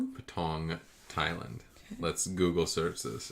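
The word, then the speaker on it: Patong: How does he How do you pronounce it? Patang. Patang. Thailand. Let's Google search this and see where it's at. What's up? There it is. Patang.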